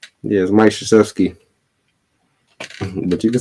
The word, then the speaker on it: Krzyzewski: Do you know how to pronounce his name? Or Mike just Coach K? Yes, Mike Krzyzewski.